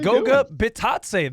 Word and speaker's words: Goga Bitadze: It's fucking Goga Bitadze. There's only 15 guys on a basketball roster. You have to know how to pronounce all of their names.